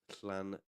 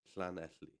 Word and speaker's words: Llanelli: So if you break it down, it's Llanelli. Llanelli. Right? That's the name of the place.